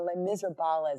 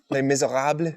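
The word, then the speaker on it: Les Misérables: have a fighting game a Les Miserables is what I call it but that's not how you say it Les Miserables Thank You Les Miserables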